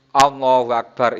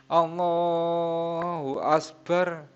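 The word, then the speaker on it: الله أكبر: Allahu Akbar atau dirubah. Tidak boleh dirubah. Allahu Akbar, Akbar itu kafnya diganti sin. Allahu Asbar, Asbar.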